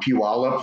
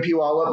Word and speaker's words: Puyallup: So right now I'm sitting in our little corporate office in downtown Puyallup, Washington. It's one of those places where you'll never be able to pronounce it right unless you're from here, right?